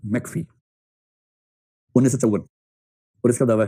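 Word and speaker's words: McPhee: ई एल D laser failed और तीसरा है मैकफी एम सी पी H double E मैकफी 1954 और इसका दावा है कि राजनीतिक अभिवृत्तियों के निर्माण में सबसे बड़ी भूमिका परिवार की होती है।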